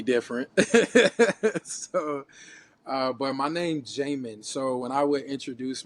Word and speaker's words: Jamen: And so, in a spiritual way, you would pronounce my name Jamin. And so we all know what Jah is, and so it's like Yamin. And or as they would say in Brazil, Hamin or Hamin or Hamin.